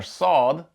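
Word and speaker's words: صاد: However, when it comes to the fatha along with the letter saad, we want to pronounce this more similar to the S and A in the word saw.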